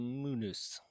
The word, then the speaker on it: munus: uh munus that's right they called it a munus pretty sure i have the correct latin pronunciation for that but the the roman